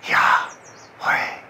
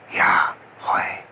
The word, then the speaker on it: Yahweh: And this unspeakable name for God is the word that we pronounce as Yahweh. Yahweh.